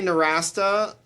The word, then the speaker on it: Nowrasteh: right so I say narasa okay um it's it's a Persian last name but from Generations ago and it is definitely not pronounced that way in Iran as far as I